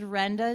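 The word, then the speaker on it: Randa: hi my name is Renda so it's pronounced like Brenda without the B but it doesn't look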